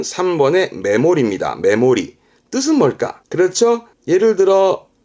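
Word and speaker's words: 目盛り: 거잖아요 그죠 이때 담을 때는 동사가 모르죠 그래서 발음은 3번의 메모리입니다 메모리 뜻은 뭘까 그렇죠 예를 들어 저울이 있다 그죠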